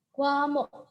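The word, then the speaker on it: 과목: Bahasa Koreanya adalah kwamok. Kwamok. Coba dilihat tulisannya. Ini bacanya adalah kwa dan ini bacanya adalah mok. Jadi kalau kita lafalkan, pelafalannya adalah kwamok.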